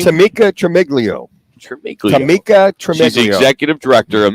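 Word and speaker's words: Tamika Tremaglio: Tamika Tremiglio.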